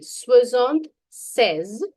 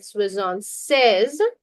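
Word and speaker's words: soixante-seize: Swizzant says now remember here if you write swizzon sees pronunciation remember if you write swizzon sees it becomes 66 but if you write swizzon says it becomes 76.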